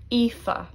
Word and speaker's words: Aoife: And that begins with AOI, 3 vowels together, and AOI is pronounced like E. Aoife.